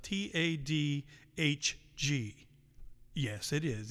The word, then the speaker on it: Tadhg: Tadhg, by the way, is spelled T-A-D-H-G.